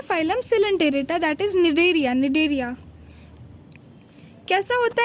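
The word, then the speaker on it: Cnidaria: ठीक है, अब नीडोब्लास्ट का स्पेलिंग देखो, CNIDOBLAST, मतलब सी साइलेंट है यहाँ पर। निडेरिया में भी देखो सी साइलेंट है, तो सी देख के सिनेडेरिया नहीं कर देना।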